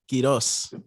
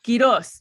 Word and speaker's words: Quiroz: Is it Quiroz? Is that how I say your last name, bro? Yes, Quiroz? That's exactly it. Quiroz. Quiroz.